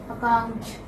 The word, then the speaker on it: account: There are two syllables. The second syllable is a stress.